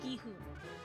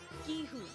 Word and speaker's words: Gi-hun: I've heard, like, 3 different pronunciations of his name in, like, the 6 videos I've watched. And, his name is Gi-hoon. Gi-hoon.